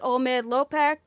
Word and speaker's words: Olmeid-Llopek: You can pronounce it Olmeid-Llopek. It's supposed to have like a rolled L, but I have a hard time rolling my L's.